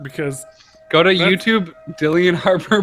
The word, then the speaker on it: Dillian Harper: Because Go to That's- YouTube, Dillian Harper pronunciation, because people make those videos. no, you're totally right. It is Dillian. I thought that was just the word Dylan. That's So our what I web- thought.